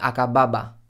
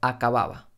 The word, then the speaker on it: acababa: a cabo a cabo acababa acababa no estoy diciendo a cabo ni acababa estoy diciendo acababa que es casi sin tocar los labios vamos a la de